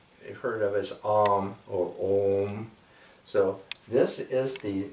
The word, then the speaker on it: Om: So that is pronounced Om.